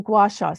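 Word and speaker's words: gua sha: of your feet what was it called oh guasha so it's g-u-a -sha did I spell that right yes you did yes okay it's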